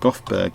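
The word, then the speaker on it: Göteborg: we call in Gothenburg here but you it's pronounced Gothberg in it and Swedish sorry let's expand this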